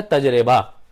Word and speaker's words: تجربہ: سے بولا جاتا ہے، لیکن صحیح تلفظ ہے تجربہ، تجربہ۔ اگر آپ کو رعایت لینی بھی ہے اس لفظ کو غلط بولنے میں، تو آپ بول سکتے ہیں تجربہ، لیکن تجربہ نہیں ہوگا، تو صحیح تلفظ ہے اس کا تجربہ۔ کچھ لوگوں نے اس کو تجربہ تسلیم کر لیا ہے، لیکن تجربہ بہرحال یہ نہیں ہے۔ اسی طرح سے ایک